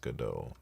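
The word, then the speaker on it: Godot: The creator of GDO says you can pronounce it however you like, but also uh he says he took the name from a play Waiting for GDO, which is pronounced GDO.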